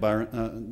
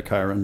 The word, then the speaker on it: Kiron: I'm going to give Byron the last word. I'm sorry, Kiron, the last word. She told me it rhymes with Byron, and I actually knew I'd do that at some point.